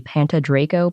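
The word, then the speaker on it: Pantydraco: I think another way to say this name could be Panta Draco, because there are a lot of dinosaur names that end in Draco, and based on other guides, I've seen it pronounced that way. Depends how Welsh you want to make it.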